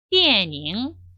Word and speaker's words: 电影: 电影, 电影 이렇게 읽어주시면 되겠습니다.